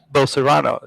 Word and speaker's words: Bolsonaro: And when you say Bolsonaro, the guy Jair Bolsonaro, Jair Messias Bolsonaro is the correct way to pronounce his name.